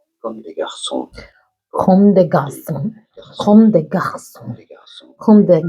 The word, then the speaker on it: Comme des Garçons: French, this means like boys, and they say it as comme des garçons.